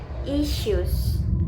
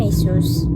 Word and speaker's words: issues: In my pronunciation, I said isus. Isus. Isus which is incorrect. But it should be issues. Issues. Issues. The mistake is in the middle sound. I simplified the word. This happened because the y sound is not common in Indonesian pairs.